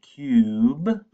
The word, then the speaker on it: cube: short U, Okay, and here we've got this silent E at the end, which makes the U say its name, cube.